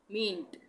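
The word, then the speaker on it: meant: ये है मींट, मींट, यहाँ पे भी ए का उच्चारण नहीं हो रहा है, मींट।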